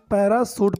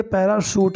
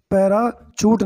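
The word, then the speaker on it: parachute: तो उसने जल्दी से एक पैराशूट, दोस्तों इसको हम पैराशूट पढ़ेंगे, ठीक है, आपने सुना होगा लेकिन आपने स्पेलिंग में ध्यान ना दिया होगा, ठीक है, तो ये पैराशूट है, पैराचूट नहीं है, ठीक है, इसको ध्यान दें।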